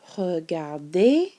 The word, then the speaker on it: regarde: What you may notice is that 4 of the forms sound exactly the same. The je, tu, il, elle, and il, elle plural all are pronounced regarde.